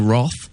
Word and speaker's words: wroth: and we'll ask him if he's prepared to risk the wroth, that's how you pronounce it, of the listeners, as we have a should stay or should George go.